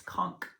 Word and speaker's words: conch: I had to look it up because I was pronouncing it the way it's spelled, which I was like, how is that? Everybody's, you know, not sure how that's pronounced. So anyway, I did a Google search and it's conch.